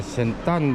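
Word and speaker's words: เซ็นทรัล บางนา: 여기는 방나에 있는 센트럴 방나, 태국 발음은 센딴 방나입니다.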